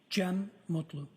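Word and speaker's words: Cem Mutlu: I also spell it uh with a G. GM. And could you tell us your name, sir? Jim Mutloo.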